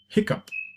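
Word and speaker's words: hiccough: and sorrow right and then hiccup hiccup right it's easy to remember cause it's onomatopoeic quite easy to recall how it's pronounced now it's your turn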